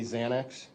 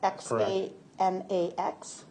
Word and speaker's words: Xanax: fields, you know that people commonly think it's really spelled with a Z. That's correct. Because of the pronunciation. Yes. Okay. So, a Z commonly refers to Xanax.